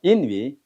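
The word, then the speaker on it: 淫雨: 인위. 우자 발음이 위. 이건 인위.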